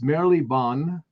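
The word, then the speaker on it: Marylebone: here i've actually looked up to how to pronounce it it's merrily bonn city of westminster in london and then there's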